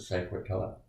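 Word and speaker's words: Saint-Quentin: But then when we jumped off the next day, there's a place called San Quentin, like our prison San Quentin here, except they pronounce it San Quentin.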